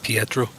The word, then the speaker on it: Pietro: So and your character name Scott again is, just in case I was pronouncing it wrong. Right, Pietro.